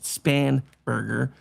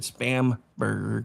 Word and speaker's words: Spanberger: her being I know her name is actually pronounced Spanberger. I pronounced it spamburger because you know she was fake to begin with.